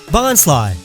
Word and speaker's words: Bonsly: Bonsly, like bonsai and sly or lie, cause it's not really a tree.